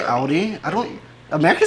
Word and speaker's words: Audi: first one is audi most americans that i know pronounce it like i just said it audi in german we say audi that's why yeah it's